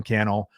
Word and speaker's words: Cannell: that my name is Sean Cannell rhymes with YouTube channel I look forward to